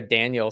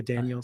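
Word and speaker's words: Daniell: e i e l almost looks like a Daniel cell yeah like a Daniel cell Daniel cell so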